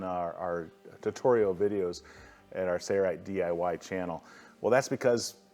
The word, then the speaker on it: Sailrite: McNolan, wait a minute, did you just pronounce the L in the Sayrite company name? All the other videos, it appears to be silent, which is correct.